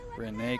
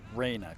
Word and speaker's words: Raina: Renee Crandall. Raina Crandall is how her first name is pronounced.